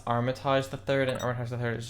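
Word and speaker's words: Armitage III: It's pronounced Armitage the Third, and Armitage the Third is just a franchise name.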